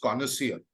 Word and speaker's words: connoisseur: also we started with and I hope I pronounced it correctly is conversion is that the way it is pronounced it